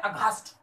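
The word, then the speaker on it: aghast: अब इसको याद कैसे करेंगे, इसको याद कैसे करेंगे, देखो ध्यान से, यहाँ पर जी एच ए एस टी अगास्ट लिखा हुआ, पर आप इसको घोस्ट करके प्रोनाउंसिएट कर दो, एक पल के लिए घोस्ट समझ लो।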